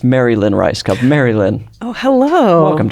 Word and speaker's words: Rajskub: to get into but once you know it's just two words I kind of like